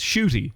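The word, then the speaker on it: Ncuti: with an n and a g but it's shoy that's how it's pronounced um shy gatwa is in as the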